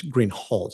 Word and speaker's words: Greenhall: your honor officer Greenhall I believe I mispronounce anouncing your name it's green hul isn't it correct okay I apologize